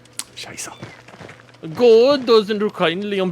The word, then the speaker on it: Scheiße: The language, boy, don't you know it's pronounced Scheisse? Scheiße.